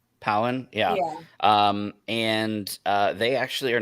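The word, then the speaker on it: Pau'an: think so, because it's based off of the planet Utapau, so I think it's Pawan. Powen, yeah.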